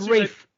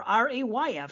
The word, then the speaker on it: Ralph: It says the pronunciation here looks like R-E-I-F or R-A-Y-F, so Rafe.